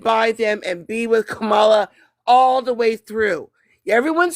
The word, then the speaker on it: Kamala: I was about to say, it's not as in the Kamala, comma it's Kamala. sentence. It's Kamala. Her mother's name was Shamala. Her name is Kamala.